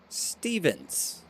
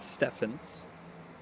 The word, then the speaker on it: Stevens: Stevens. Zach Stevens, not Stephins.